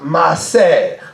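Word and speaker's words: מעשר: Et le mot hébreu pourrait se prononcer par maaser.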